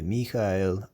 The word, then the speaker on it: Michaël: But here you can see the two dots over the E. That's to help show you that these are two separate syllables because it comes from the Hebrew Michael.